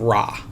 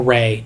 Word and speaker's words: Ra: as a daughter of Rah the sun god or Rey depending on on your pronunciation um specifically Ry is